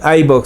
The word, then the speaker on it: iVoox: vaya a Spotify y búsquenos ahí, o en iVoox. Se escribe IBOOX.